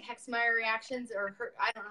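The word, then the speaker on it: Herxheimer: Just like, kind of like Hexmeyer reactions, or I don't know how you say it. Herxmeyer.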